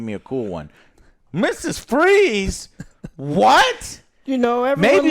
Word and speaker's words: Fries: fries I know but that's how they've always pronounced really yeah oh that's right yeah fries freeze uh your number above